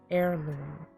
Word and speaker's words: heirloom: Heirloom. The H is silent. Heirloom.